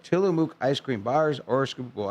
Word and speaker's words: Tillamook: Tillamook ice cream bars or scoopable ice cream.